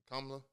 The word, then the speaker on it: Kamala: I said her name right, Kamala. I think you did. I seen a hat with a comma and then a lot. It was like the way you pronounce her name.